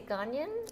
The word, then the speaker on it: Ghanaian: so i've never had ganon gangnam is it pronounced did we say ghanian yeah okay so i've never had gangnam food